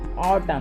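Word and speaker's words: autumn: ऑटम तो देखो यहां पर देखो एम के बाद एन आ गया तो साइलेंट हो गया।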